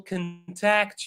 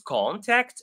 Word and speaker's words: contact: You can notice that when it is a verb it's the second syllable that is pronounced. I will contact you.